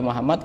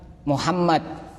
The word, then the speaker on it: Muhammad: Ala Muhammad dan itu baca sholawat itu harus yang bertasydid itu harus benar-benar di tasydid misalkan Muhammad itu kadang-kadang sebagian orang bacanya Allahumma sholli ala Muhammad Muhammad tidak ada tasnya kan Allah mau Muhammad